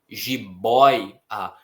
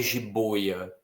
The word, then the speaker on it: jiboia: Então não é jiboia, é jiboia. O O fica, né, o seu lábio forma um arco maior para pronunciar essa palavra.